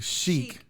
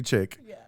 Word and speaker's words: chic: because i mispronounced it it's the country chic not country chick country chic red carpet